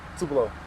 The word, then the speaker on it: Tupelo: Can you pronounce the name of the town again? Tupelo.